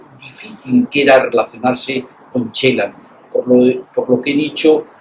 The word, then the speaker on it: Celan: había oído su nombre lo pronunciaba mal porque decía porcelán y en realidad es chelan Eh me ha sorprendido